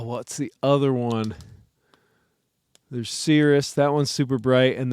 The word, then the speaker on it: Sirius: Uh some some people I think pronounce it Sirius, but I believe it's Cirrus.